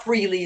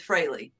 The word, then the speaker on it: Frehley: It's not Frehley, it's Frehley.